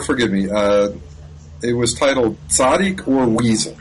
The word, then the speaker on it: tzaddik: It was titled "Tzaddik or Weasel." Right. Did I get that pronounced right?